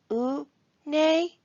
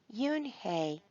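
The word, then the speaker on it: Unhei: no yoon hey corrected it's spelled u n h e i it's pronounced yoon hey oh it's yo hey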